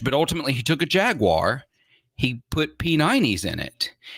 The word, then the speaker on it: Jaguar: When I say it like that, it sounds like someone who's only read the word but never heard it pronounced, and that's how they say it.